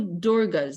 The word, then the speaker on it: Durga: so the word Durga there's two durgas there's Durga with a short a and there's dorgo with a long a and one is referring to the person and the other means a prison so she's Durga is